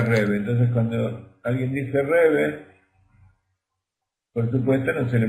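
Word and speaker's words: Rebbe: Que en Yiddish nosotros decimos Rebe, pero se escribe Rabbi.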